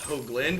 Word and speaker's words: Hoagland: My last name is pronounced Hoagland with a long O sound.